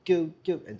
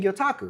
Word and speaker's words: gyotaku: captain who's like, "Hey, have you ever heard of this thing called gyotaku?" Same thing. And I'm like, "Yeah, you mean gyotaku?"